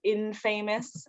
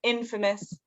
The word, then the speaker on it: infamous: This one is infamous. I also thought this was infamous as a kid. I learned most of my vocabulary growing up by reading, so I never knew how to pronounce anything. So this one's infamous, and that's the same one.